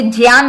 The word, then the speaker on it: ज्ञान: उसी तरह से जब हम कहते हैं ज्ञान, तब भी हम इसे ज्ञान नहीं कहते, हम इसका उच्चारण ज्ञान रूप में करते हैं, यानी आधा ग और य रूप में यह ज्ञान होता है।